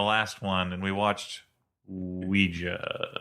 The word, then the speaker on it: Ouija: one and we watched Ouija stop saying Ouija they don't even say Ouija in the movie you were saying Ouiji before we got on the air